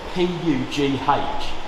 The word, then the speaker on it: Pugh: And Pugh, how do you spell that? P-U-G-H.